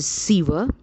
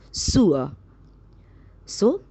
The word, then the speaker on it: sewer: he had found the way in through the sewer students we always pronounce this word as a siever but we pronounce it wrong it is not siva its pronunciation is sue so and he found the way in through the